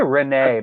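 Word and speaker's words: Rhennee: say Renee either yeah I say Renee because it's that's how you would say it in French it's not France I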